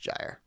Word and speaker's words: Gyre: I believe it's pronounced Gyre. Like gyro. Gyre.